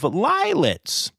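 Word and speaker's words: lionets: The Zoos Victoria in Australia has announced that at their Werribee Open Range Zoo, Lioness Nilo has welcomed a litter of lilets. Rhymes with violets.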